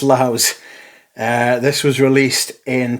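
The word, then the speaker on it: LAVS: am reliably informed that this is pronounced Laos not labs as in lavatory it's pronounced Laos uh this was released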